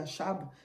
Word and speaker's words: Achab: On peut dire Akab, on peut dire Achab. Voilà, ça dépend de comment chacun prononce.